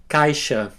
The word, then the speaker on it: caixa: The letter X can be pronounced as an S and an H together, like in the English word shop. Let's see some examples. You can repeat after me. Abacaxi, caixa, xícara, puxar.